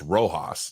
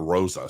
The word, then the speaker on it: Roas: and um I apparently I have her last name wrong it's roas not Rosa so I need to